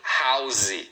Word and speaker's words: house: Então é suitcase aqui palavra casa tão comum, ó, é house. Uma sílaba house. Então não fale house, não tem duas sílabas, tá?